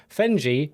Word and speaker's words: Fenge: Fenji rhymes with Penji.